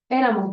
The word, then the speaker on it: éramos: es copretérito de es éramos muy bien éramos éramos muy bien con acento en la e éramos muy bien La